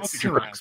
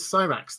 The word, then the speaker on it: Syrax: uh so okay cyrux i i've said cerax before and now apparently it is psyrax that is that is what is uh they say on the show so there may well